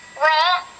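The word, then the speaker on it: ر: Arahkan pena pada huruf ro ro cara pengucapan ro adalah suara keluar dari pertemuan antara ujung lidah dan langit-langit bagian depan yang disertai dengan satu kali getaran halus ujung lidah selanjutnya Anda tinggal mengarahkan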